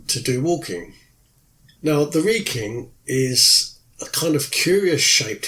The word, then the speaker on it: Wrekin: But when I was there, I found out that the Wrekin, which is spelt W-R-E-K-I-N, but is actually pronounced locally as Wrekin, was an inspiration for Middle-earth.